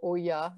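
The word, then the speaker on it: olla: You'll see an Ola or Oya, depending on how you want to pronounce it.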